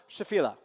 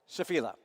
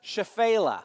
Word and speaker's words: Shephelah: It's pronounced Shephelah. Shephelah. How I'm going to probably pronounce it sometimes is Shephelah, because that's how I first heard it. That's so wrong. Or Shephelah.